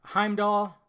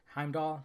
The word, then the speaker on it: Heimdall: got Loki we got heimall I always say his name wrong Heimdall heal heal yeah you